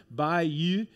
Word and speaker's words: Bayeux: I I think the best way I'm gonna pronounce it is by you and it's not it's by Joanne's back in the back and I know she's taking notes uh by you and and so it's not Bae but bye and then you and as she